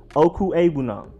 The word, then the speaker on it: Okwuegbunam: But his name is not that difficult to pronounce. It's just Albert Okwuegbunam.